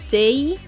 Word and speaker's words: Tewi: Tewi is pronounced as J, I do believe. I suppose, but you could pronounce this as Day, because V is not like an actual Japanese sound. They do not really know V in Japanese, I think. Like, if you try to pronounce V in Japanese, they usually say like Kui or something. So they usually pronounce Tewi as Day.